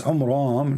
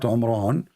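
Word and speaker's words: Amram: It's Umram, not Umran, but because he did not know how to pronounce the Jewish name correctly as usual.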